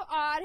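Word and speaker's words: hour: आर एंड आर, पहला वाला जो आर है, एच ओ यू आर आर, वहां पे एच जो है वो साइलेंट है.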